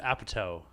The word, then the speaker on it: Apatow: But Apatow. yeah, but towel is T-O-W-E-L, so like Apatow.